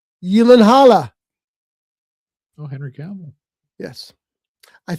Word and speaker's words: Gyllenhaal: Gyllenhaal.